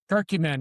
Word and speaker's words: curcumin: Turmeric, uh, and curcumin. Am I saying it correctly? Curcumin.